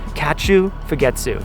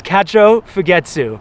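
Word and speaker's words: Kachō Fūgetsu: is their like philosophy it's called KATU fetu I am I saying that right ccho I'm not saying it right it's ccho fetu okay all right Matt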